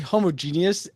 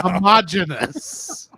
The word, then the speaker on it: homogeneous: You put the wrong emphasis on the wrong syllable. Genius. There we go. Homogenous.